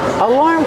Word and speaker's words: alarm: We see the word alarm has 2 syllables. The first one is relax, like cup and up, alarm. Put the stress on the second syllable, making the R sound like bar and car.